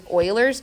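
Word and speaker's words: Euler: Also, if you're googling around for help, this is sometimes called referred to as Oilers's number. And yes, that's pronounced Oiler.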